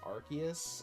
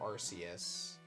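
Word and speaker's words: Arceus: some people say I the only Pokemon pronunciation that I'm okay with is Archus or Arus or my favorite Archus, which sounds cool. Kava wants arson because um the the Pokemon company international has said all three.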